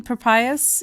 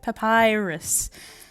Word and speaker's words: Papyrus: Prius it's for Prius how do you even pronounce his name I'm so sorry but he's very cute I love just the brothers they're great who's my papayas papyrus thank you thank you thank you